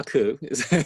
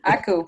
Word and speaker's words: Akeu: Actually, it's Menglun Akeu. Akeu? Akeu.